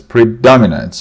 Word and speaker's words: predominates: Some pronunciation eclipses, stress on clip. Eclipse, eclipses, predominates, predominates.